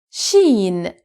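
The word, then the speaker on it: شين: blackberry toot aswad now sheen sheen shin is pronounced like the sh in the english word sheep sheep so sheen sheen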